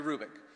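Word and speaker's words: Hrubec: you h-r-u-b-e-c Terry kubick the H is not pronounced Terry Rubik she did studies of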